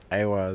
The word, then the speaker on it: Awa: So now I prefer Awa Mobile, and Awa is how you pronounce it.